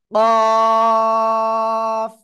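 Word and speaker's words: قاف: ওকে, তাহলে দেখেন, এই অক্ষরটা উচ্চারণ হবে জিহ্বার গোড়া, তারপর আবার উপরে তালুর সাথে লাগিয়ে মোটা আওয়াজে চার আলিফ টানে উচ্চারণ করব। কফ।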